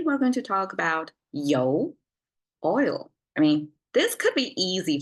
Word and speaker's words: 油: You have to pronounce this as a you and a rising tone to make it sound oil in Chinese.